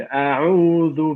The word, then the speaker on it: أعوذ: قل أعوذ برب الفلق. So remember, أعوذ, not ذو. Just the very tip of your tongue should be between your teeth.